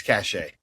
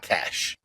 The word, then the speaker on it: cachet: It's cachet, not cash.